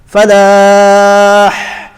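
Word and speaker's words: فلاح: The ha comes from the middle of the throat. That's the makhraj of the ha. So hayya ala falah, falah.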